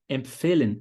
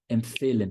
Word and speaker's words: empfehlen: Empfeh, vai ser em cima do fe. Empfehlen, que é o verbo recomendar.